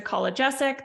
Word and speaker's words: Kolodziejzyk: so my name is collegesic that's how you pronounce that last name sounds a lot easier than it looks uh I'm a registered